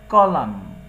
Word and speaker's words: column: তাহলে ম্যাচ অর্থাৎ একটার সাথে আরেকটা মেশাও, কলাম।